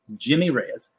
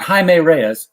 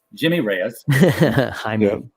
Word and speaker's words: Jimmy Reyes: in front of me jimmy reyes not jaime reyes jimmy reyes and this joe will's